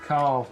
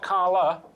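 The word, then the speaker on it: Karl: Carl. Car. Car. Car. Car. Carl. Oh, God, Yeah. they can't Carl. pronounce the Carl. L. Carla. Carl. Carl. Not Carla, just Carl.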